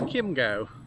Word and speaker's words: Kimo: at the bottom and apparently it's Kimo not Cho Chingo whatever so this is